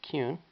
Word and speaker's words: Kuhn: And my last name is Kuhn, which is, it's pronounced Kuhn, but it's spelled K-U-H-N.